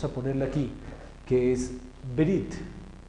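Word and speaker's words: בְּרִית: El sonido de la E es muy corto, suena, pero es absorbido por la consonante B.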